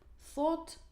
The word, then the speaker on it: thought: So the orange color, it is this GHT, yeah, this very interesting letter combinations which are actually not pronounced, because we say bring, brought, brought, buy, bought, bought, fight, fought, fought, think, thought, thought, catch, caught, caught, teach, taught, taught.